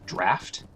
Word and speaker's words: draught: the cleansing draught here, I'm pronouncing it draught. I think in some dialects of English it's pronounced draft. But where I'm from, I usually hear people say draught. English is a weird language. But yeah, just in case you're wondering, if you hear people say draft, that is a correct pronunciation of that word.